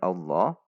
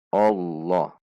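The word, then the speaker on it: الله: membacanya lafadz jalalah lafadz Allah ketika dimulai oleh harokat fathah maka huruf lam ini dibaca tebal atau SIM Perhatikan cara membacanya kesalahan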